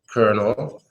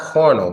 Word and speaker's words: colonel: got the closest colonel yeah not carnal but more like Colonel yeah Cornell I guess that's in Russian candle co no no you got to get in close but it is Colonel Colonel like Colonel Sanders the KFC guy if